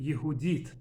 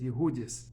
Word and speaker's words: Yehudit: video I want to discuss the Jewish name yehudit or as aazan pronounce it yudis it's a female name not very common but